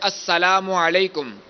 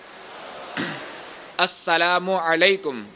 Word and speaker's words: السلام علیکم: پہلے آپ سن لیجئے السلام علیکم، السلام علیکم، وعلیکم السلام، وعلیکم السلام، وعلیکم السلام.